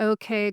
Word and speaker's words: Ok: is basically translates to okay glacier because it's spelled okay. Okay. So, it looks like the English word okay, but in Icelandic it's pronounced ok.